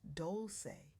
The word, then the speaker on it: Dolce: I'm your host Dolce, pronounced doulce like sweet softness whispered in French.